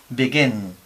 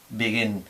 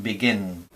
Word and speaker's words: begin: Igual que pasa con begin. Nosotros en español diríamos, o sea, mal pronunciado, diríamos begin, begin, pero no, es begin, begin.